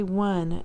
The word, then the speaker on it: one: in there and remember the word is odd because we oops we the pronunciation has changed or the spelling has changed over time we say one you don't you don't have to spell anything for the sound but one on we're taking